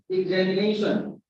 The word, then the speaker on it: examination: So this is 5 selective word, and the primary stress is on 4 syllable, and the secondary stress is on the second syllable.